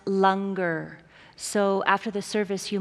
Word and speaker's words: langar: for all of you it's spelled langar but it's pronounced longer so after the service